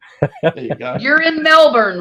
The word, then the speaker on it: Melbourne: You're in Melbourne, right?